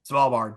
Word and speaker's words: Svalbard: Svalbard. Svalbard.